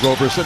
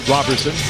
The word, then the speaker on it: Roberson: F like Roberson he pronounces it Robertson near sideline Ibaka 15ot